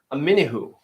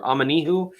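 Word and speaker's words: Omenihu: the making on Charles aminihu I believe it's pronouncer amanihu I'm gonna have to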